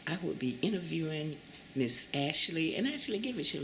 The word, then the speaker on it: Ashelee: okay um my name like she said is Ashley um did you want me to spell it out yeah yeah go ahead and spell